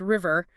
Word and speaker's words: RVR: Produced by DJ RVR, you know, pronounced River.